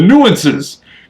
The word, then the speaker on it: nuances: I'm now picking up a few more of the nuances. What the hell? Making up words. And it's number 3 on my list. You put the emphasis on the wrong spot. The nuances.